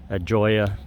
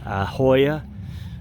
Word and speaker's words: Joya: the information regarding the Joya That's how I pronounce it, but they do it Ahoya with an H. Meanwhile, there's a J in it.